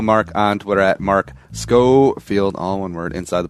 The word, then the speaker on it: Schofield: bad and I apologize I mispronounced your last name at the top but it's Scofield right yeah yeah and I